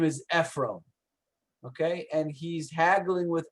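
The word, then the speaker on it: עפרון: That's how you say Ephron, Ephron, with Ephron. Okay, and you can see the name Ephron is spelled Ayin, Pei, Resh, Vav, Nun.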